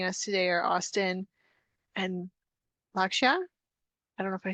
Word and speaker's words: Lakshya: Some new people we have joining us today are Austin and Lakshya.